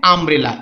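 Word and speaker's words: umbrella: দেখো এটা তুলনা দেখো, অ্যান আমব্রেলা ইউ দিয়ে শুরু হচ্ছে কিন্তু উচ্চারণ হচ্ছে আ।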